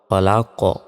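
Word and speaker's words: خلق: থামলে উচ্চারণটা হবে খলাক খলাক শেষে ধাক্কা দিয়ে পড়তে হবে এটাকে কলকলা বলে খলাক মিনারিমা খলাক আমি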